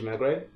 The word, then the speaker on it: Megre: tell us your full name full name's magray emmy gre it's hard to pronounce five letters it gets butchered more often